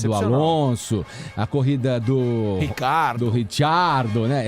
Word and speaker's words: Ricciardo: Eu sei que vocês vão falar da corrida excepcional do Alonso, a corrida do Ricciardo, né? É Ricciardo ou é Ricardo? A pronúncia correta é Ricciardo.